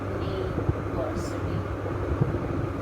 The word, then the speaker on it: university: University is a place where we get higher education, and university is pronounced as university.